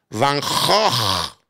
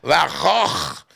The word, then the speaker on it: Van Gogh: Tú y yo le decimos Van Gogh. En los ingleses le dicen Van Gogh. Su nombre en holandés se pronuncia Van Gogh. Es de aquí abajo, Van Gogh.